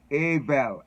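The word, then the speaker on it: עוול: the word you know and is a avel avel is is the way the the word is pronounced and so my brother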